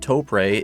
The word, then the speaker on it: Toprey: I'm very confident that Toprey is the correct pronunciation. They're a Japanese company based in Tokyo and their name is a Portmanto. very typical with Japanese stuff of Tokyo Tokyo and press which in katakana is puru puru.